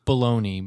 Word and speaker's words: Bologna: wanted to double check because when I read it, having never heard it said out loud, I thought, is this man's last name Baloney?